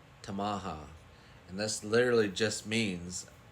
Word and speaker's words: Tamaha: is this town name right here it is pronounced tamaha tamaha and this literally just means town so tamaha